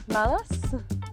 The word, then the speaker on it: malas: Malas? Yes, very close, very close. So we say malas. Malas. Yeah, malas. It's a feeling that you